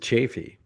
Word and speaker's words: Chaffee: I didn't know you pronounced it chaffy.